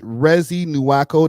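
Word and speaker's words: Reezy Nuako: Rezi Nuako. That's spelled R E E Z Y N U A K O. Again, that's re ez for the people in America.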